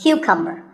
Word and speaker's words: cucumber: now this is a cucumber it's not a cucumber think of it like saying the letter q and then cumber like number so cucumber this vegetable